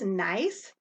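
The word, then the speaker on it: gneiss: rocks i mentioned is nice and it's pronounced just like you would say have a nice day it's formed from granite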